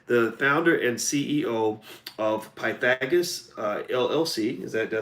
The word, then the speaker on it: Pythagoras: Rebecca Samuels is the founder and CEO of Pythagoras LLC.